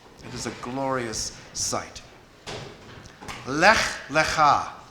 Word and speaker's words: Lech Lecha: Lech, Lecha is what those two words are pronounced like, and they mean go for you.